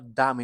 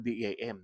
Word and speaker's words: DAM: ng sv19 Ang dam so i think I pronounce it correctly no dam Hindi naman deim no dam Okay so itong dam